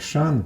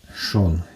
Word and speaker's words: Шон: першим урожаєм дерину Шон в мене він підписаний Як Шан бо читається як Шан але твірна назва мене поправила це Шон досить в цьому році